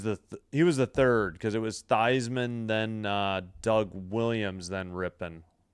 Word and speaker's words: Theismann: Yeah, it was Joe Theismann, formerly known as Thiesman. He changed his name to rhyme with Heisman.